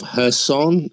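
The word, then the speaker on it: Kherson: have heard of the city of herson written kershawn but it's pronounced her son i think which is a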